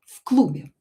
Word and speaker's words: в клубе: Uh, в клубе была громкая музыка. Okay, and here "в" will be pronounced as "ф". В клубе.